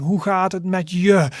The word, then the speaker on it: hoe gaat het met je: Hoe gaat het met je? So there is a bit of stress on the je part, which means you.